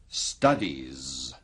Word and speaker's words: studies: Akhiran ini pada kata Study. diucapkan sebagai, Z. Studies.